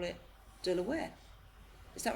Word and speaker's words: De La Warr: The reason we say Delaware is because of the family name. Right. The family pronounce it Delaware.